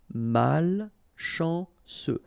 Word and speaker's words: malchanceux: Malchanceux. Final X not pronounced. CEU, ce. Malchanceux.